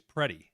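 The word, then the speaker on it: Pretti: Alex, I believe it's Preddy, the gentleman up in Minnesota. I hear people say Preddy, but it's spelled like pretty with an I. But I've heard people say it Preddy.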